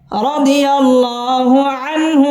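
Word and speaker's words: رضي الله عنه: নুন জবর আন হাশর রাদিয়াল্লাহু আনহু রাদিয়াল্লাহু আনহু পুর হবে রাদিয়াল্লাহ শব্দের লাম আলিফ টান দিয়ে পড়তে হবে রাদিয়াল্লাহু আনহার ছাড়া স্পষ্ট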